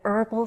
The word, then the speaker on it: herbal: your bonus phrase: an herbal supplement. Notice I choose AN because I don't pronounce the "h" in "herbal."